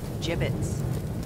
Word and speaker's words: gibbets: a he had some gibbets left over gibbets what it's pronounced jibbitz are you sure yeah